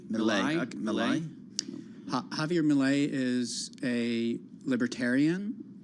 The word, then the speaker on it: Milei: How do you pronounce his last name? Milei. Milei. Okay, Milei.